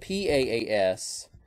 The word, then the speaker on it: PaaS: okay and it's called paas and there's s-aaf some people pronounce it pass and SAS now pass is platform